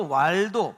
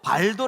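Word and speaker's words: Waldo: 설명을 드리려고 합니다 피터 왈도 발도 아고 하죠 이게 이제 V 발음이 W 발음하고 이제 돼요 그래서 도기도 하지만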